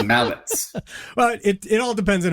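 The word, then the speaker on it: Malec: Thomas Malik, former first-round pick, who I think played a couple of games. Mallets is pronounced T-S. Thomas Mallets.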